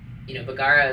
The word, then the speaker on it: Bugara: It's like, bugara is like the actual probably like way that it would have been said in Italy. You know. 5 steps ahead, 2 steps backwards. Well, yeah, my family always pronounces it bugara because I think we just Ohioified it.